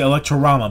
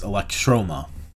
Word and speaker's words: Electroma: not oh also i i mispronounced the name of their uh the movie that they directed it's electro i like troma even cool i was gonna say electro-rama but that's not right either it's electroma it's their third video